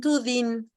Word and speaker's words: dînes: Pero en francés no vas a decir ni la E ni la S. Tu dînes.